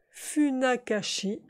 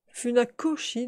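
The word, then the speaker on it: Funakoshi: qui était guy chine fut nakashi fut nakoshi de joie c'est un os et non pas un qui était dit chine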